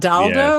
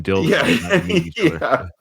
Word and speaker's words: Dildo: It's not Daldo or whatever. No, it is for It is Dildo, Newfoundland.